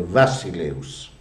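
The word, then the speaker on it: βασιλεύς: Noi pronunciamo la B, la beta, noi a causa di una fake news del 1600, pronunciamo la B, quella che è la beta, in greco la pronunciamo come una B latina, ma i greci la pronunciano come una V, quindi è Vassileus, una cosa che risuona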